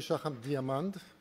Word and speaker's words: Shacham-Diamond: You know, Noam used to say that the name is Shacham-Diamond with an A, the German pronunciation, and I'm going to